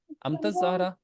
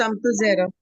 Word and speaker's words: Amtu Zehra: जी sir miss अमतज ज़हरा आपका नाम है, ये आपके नाम से पहले आपके स्पेलिंग है AMTUZ, अमतज ज़हरा। It's Amtu Zehra.